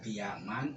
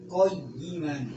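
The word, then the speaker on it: قِيَمًا: Jadi yang paling benar itu dua-duanya sama ya, ini dua-duanya sama-sama boleh dibaca kiaman atau koyiman, harus tasdid.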